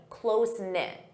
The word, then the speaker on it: close-knit: Close-knit. Notice that pronunciation, close-knit.